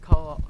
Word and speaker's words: quahog: It's co-hoging or qua hogging? Co-hog.